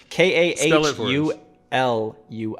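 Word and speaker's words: Kahului: uh i said it different the first time k a h u l u i kahulu there we go kahaluhi is how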